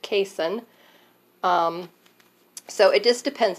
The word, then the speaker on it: casein: And with the dairy, it's the protein, which I believe is pronounced casein.